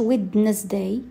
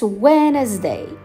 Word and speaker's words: Wednesday: وردوا البال هذيك الديره ما كتنطقش، ما كنقولوش Wednesday، It's Wednesday. Wednesday.